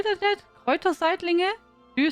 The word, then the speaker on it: Kräuterseitlinge: Krauter-Seidling. Do you say that? Kräuterseitlinge? Do you say that? Krauter-Seidling. Really? Sounds like you try to take the German word and try to pronounce it.